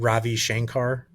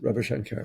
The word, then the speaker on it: Ravi Shankar: So it's not Ravi Shankar. That's not how you say it. Yes, Ravi Shankar.